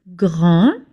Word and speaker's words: grand: Grand feminine grand masculine. You don't pronounce the D at the end. It's a silent letter.